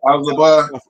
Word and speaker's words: Elphaba: Elphaba. Elphaba, how she was Okay.